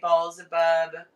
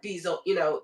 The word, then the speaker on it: Baalzebub: That's an well, I know that Ball, because when they come they say Baalzebub and not Beelzebub, that's how they pronounce it.